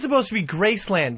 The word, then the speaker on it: Graceland: Yeah, Fezzy, he puts a U instead of an A-N in everything. When he went down to Graceland, he said Gracelund.